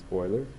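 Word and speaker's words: Euler: we know that uh we think that we would pronounce that uler but his name is boiler and your famous Swiss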